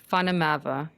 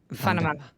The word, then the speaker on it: Van der Merwe: So correctly, it's Vandermava. Vandermava. It sounds Yeah. German. That's South African? South African. Okay. Yeah. Vandermava. Yeah. We here in the States, I'll say Vandermava. Move. A little easier. Okay. Like the V, the W is like a V.